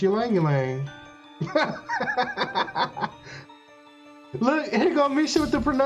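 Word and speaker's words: Ylang-ylang: Yep, it's Ylang Ylang. Look, here go Misha with the pronunciations.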